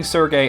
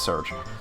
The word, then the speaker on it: Serge: to correct myself so i looked it up in japanese and it's which would mean it's search so you know that's